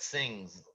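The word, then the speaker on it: Singz: be when i met sings singing singing yeah that's the closest pronunciation we can't really s i n z s-i-n-g-z i'm sorry things like things yeah like things are so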